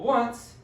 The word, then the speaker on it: once: to know when that when i spell it as o n c e it looks like the word once right but that's not how you say it instead of one syllable once it's two syllables and then so let's